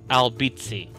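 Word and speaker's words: Albizzi: Albeiti, it's pronounced Albbitzi.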